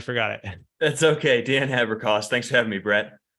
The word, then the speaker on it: Haberkost: the show with me Dan and unless you pronounce the last name because I've already forgot it that's okay Dan Haber cost thanks for having me Brett and Dan for